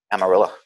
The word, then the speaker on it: Amarillo: I'm pronouncing it like a true Texan, Amarillo.